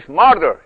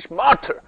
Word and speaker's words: martyr: در دوران تسلط مذهب و مسیحیت، این کلمه «martyr» - که در لهجه آمریکایی «marder» تلفظ می‌شود، یعنی «t» تأکید نمی‌شود، اما در انگلیسی بریتانیایی، «martyr» که «t» به وضوح تلفظ می‌شود - به معنای